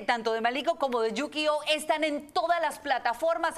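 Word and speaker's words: Yukioh: Bueno, mi nombre se escribe Y-U-K-I-O y Yukio. Con H al final.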